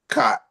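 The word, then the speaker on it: khat: Uh, cot cot and spell it k h a t.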